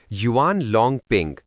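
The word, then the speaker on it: Yuan Longping: नाम रट लीजिए युवान लॉन्ग पिंग spelling Y ए यू ए एन एल ओ एन जी पी आई एन जी।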